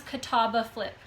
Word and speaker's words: Catawba Flip: This one's Catawba Flip. That's how you say it. Catawba Flip.